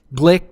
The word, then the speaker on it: Glueck: from uh Staley High School Lucas Wilson Jackson Glick did I pronounce that correctly yeah you got it sweet